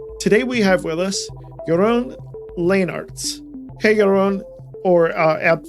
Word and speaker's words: Jeroen Leenarts: host leo dion today we have with us your own lane arts hey everyone or uh app force i should